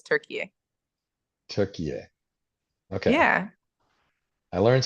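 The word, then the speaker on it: Türkiye: chance qualifier turkey turkey wow it's actually not turkey anymore it's it's turkey and it's that it's pronounced that way for for the world now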